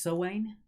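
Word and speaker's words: Samhain: I actually think it's pronounced Sowain.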